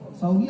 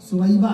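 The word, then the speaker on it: ثویبہ: صوبیہ لوگوں نے نام رکھنا شروع کر دیا. صوبیہ نہیں ہے، سویبہ ہے.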